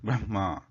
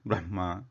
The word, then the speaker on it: Brahma: Like that, the pronunciation of Hakara in case when it is combined with some other letter, it always comes first, and its position of origin, it originates from the chest.